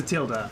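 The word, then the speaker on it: tilde: could be I think it's spelled t i l d e and I've never known if the e was pronounced or not in Spanish it's a Tilda I know if it's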